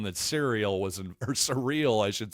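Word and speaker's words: Cyril: C Y R I L but pronounced surreal from what I could tell.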